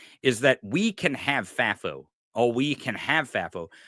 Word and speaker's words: FAFO: FAFO? It is. Fafy? FAFO. Yeah, FAFO. Here's what I want the audience and maybe to convince other commentators of this, is that we can have FAFO.